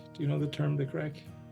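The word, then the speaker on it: craic: And crack, do you know the term, the crack? The crack? Like C-R-A-C-K? No. C-R-A-I-C, we spell it in Ireland.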